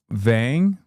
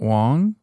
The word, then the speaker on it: Vang: It's Vang, not Wong.